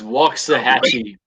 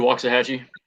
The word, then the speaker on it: Waxahachie: in the middle or something how do you pronounce the town that you're in the town I'm in is Waxahachie block sahatchie not Waxahachie Waxahatchee that's how I